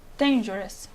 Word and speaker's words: dangerous: Number 1, dangerous. The stress is on the beginning, the Then. first syllable.